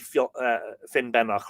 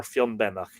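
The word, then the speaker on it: Finnbennach: Now, that's spelled here, Banach, Fionbanach, but it's usually spelled Benach, so Ben is a horn. So I will pronounce it Finbenach or Fionbenach, if you don't mind.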